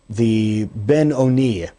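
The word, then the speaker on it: Beinoni: It is brought down in the Tanya that there's this one known as the Ben Oni, or sometimes pronounced the Benoni, the one who is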